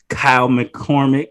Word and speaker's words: Kyle McCormick: Today with me, I have Kyle McCormick. Did I pronounce that correctly?